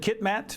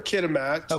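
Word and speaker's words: Kitimat: you grew up in is it kitat BC no I was born in kitamat um I all my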